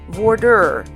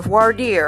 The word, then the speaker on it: voir dire: This process is called voir dire or voir dire, or any number of ways of pronouncing it.